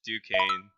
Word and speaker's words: Duquesne: Oh, it's Duquesne.